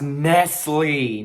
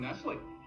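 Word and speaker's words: Nestlé: there is the word nestle in blue text on a golden outline it's pronounced nestle not nestle nestle thank you very much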